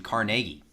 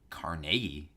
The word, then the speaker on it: Carnegie: in Carnegie mmm-hmm probably people are listening to me really bad because they're probably looking like Carnegie because I think most people pronounce it Carnegie I know but I think that's I think that's a Pittsburgh thing I think it's like it's not Pittsburgh ease but like we just call it that yeah it's we just